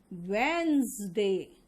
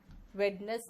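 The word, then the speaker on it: Wednesday: Poison, cousin, wizard, and इसका pronunciation होगा वेंसडे। Veins, वेडनेस नहीं, वेंस।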